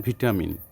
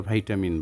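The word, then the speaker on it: vitamin: মধ্যে একটু ভিন্ন আছে, যেমন ভিটামিন, আর আমেরিকা তার ভাইটামিন বলে। যেমন you need to take some ভিটামিন, এটা British, are you need to take some ভাইটামিন এটা হচ্ছে আমেরিকান। গ্যারেজ এবং গারাজ দুটোই কারেক্ট।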